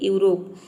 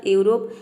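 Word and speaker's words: Europe: करेंगे यूू प्रोनाउंस करेंगे जैसे कि यूरोप यहां पे देखिए इ यू का हो जाएगा यू आर का हो जाएगा र और ओ का होगा ओ पी का हो जाएगा प और यहां पे ई साइलेंट है क्योंकि वर्ड के लास्ट में आया है किसी भी वर्ड के अंत में यदि ई आता है तो वहां पे ई साइलेंट रहता है ई को हम प्रोनाउंस नहीं करते हैं ये हो जाएगा यूरोप यूरोप मतलब होता है यूरोप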